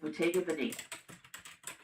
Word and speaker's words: Bottega Veneta: Next up, we have Bottega Veneta. And they actually did give me like the phonetic pronunciation for this one, so I know I'm